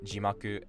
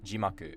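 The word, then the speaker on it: 字幕: Like I used to constantly make the mistake of saying jimaku as jimaku, because when you say eigo jimaku or nihongo jimaku, it actually drops after ji.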